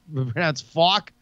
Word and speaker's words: FAK: The Fake Coin Organization is looking for a video that describes FAK, which is pronounced FAWK.